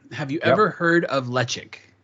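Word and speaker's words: Ledaig: smoky whiskey guy have you ever heard of lechik spelled lead egg but pronounced lechik it's i believe it's tobermory's side right right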